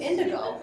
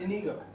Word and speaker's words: Inigo: That was indigo. No, it's Inigo.